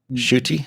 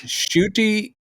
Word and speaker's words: Ncuti: guy, and I have to learn how to pronounce his name because I'm not sure how. Yeah. It's like Ncuti, I think. Ncuti.